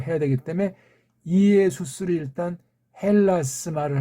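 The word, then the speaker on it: Ἰησοῦς: 이걸 이에수스 주격 발음으로 해야 되기 때문에 이에수스를 일단 헬라스 말을 할 때는 헬레 말을 할 땐 이에수스 그렇게 우리말로 헬자를 표시해 주는 거예요.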